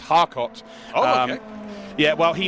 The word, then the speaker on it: Charcot: from Hayfen saying that Charcot's name's pronounced Harcot. Oh, okay. Yeah, well, he needs to send a very polite email to his parents and explain to them why his name is now Charcot.